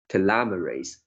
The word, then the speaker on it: telomerase: the telomere caps and reduce the activity of telomerase. The first line, the last bit words, this is pronounced inevitably.